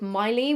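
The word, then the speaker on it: Mylee: I usually use a brand called Miley, which is spelled Myle.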